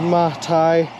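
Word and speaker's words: Matej: It's pronounced Matai. It's the Croatian version of Matthew.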